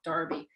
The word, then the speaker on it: Derby: darby day in england i know it's spelled derby but in england they call it darby and if you've been